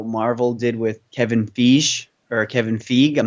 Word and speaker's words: Feige: charge, similar to how Marvel did with Kevin Feige. I'm not sure how you pronounce his last name. Feige.